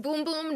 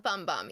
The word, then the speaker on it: Bum Bum: It is pronounced boom boom, not bum bum.